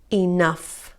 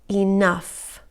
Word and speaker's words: enough: Tough, rough, cuff, luff, enough. Good job. Estas palabras lo que tienen en común es que la combinación GH se pronuncia como F, ¿ok?